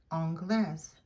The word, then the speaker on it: anglaise: Anglais, anglaise. It means English. Anglais, anglaise. Because of that final E, we are going to pronounce that S, and it's going to be a Z sound.